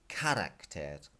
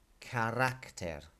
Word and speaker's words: carácter: The A accent tells you this is not carácter. Okay, it's telling you that this word is físicamente. So you hit that first I, físicamente. And here it's telling you that this word is pronounced carácter, because you're hitting this second A as you say it.